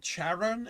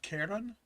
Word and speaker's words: Charon: Yeah, well, you'll have to excuse me, but CH is not a hard K for me. Which is why I'm always pronouncing it Charon and not Charon.